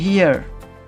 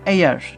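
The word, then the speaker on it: heir: তারপর দেখো হিয়ার, এখানেও অ্যান বসলো। হায়ার, এটার ক্ষেত্রে হায়ার না এয়ার, ঠিক আছে? হায়ার হবে না, এটা এয়ার হবে, এই ক্ষেত্রেও অ্যান বসলো।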